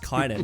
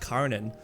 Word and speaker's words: Kynan: He's like, oh, that's not pronounced Kynan. That's pronounced Karanan.